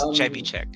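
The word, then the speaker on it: Trzewiczek: I still have to hesitate before pronouncing his last name because it's like it's a Polish name. It's hard. Yeah. But it's Chevichek.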